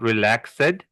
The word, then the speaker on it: relaxed: Now, there's another word I heard someone mispronounce. Where was it? Oh, and when this also is not relaxed, it's relaxed.